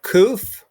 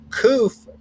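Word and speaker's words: ק: letters so we have koof and koof makes the k sound koof um one thing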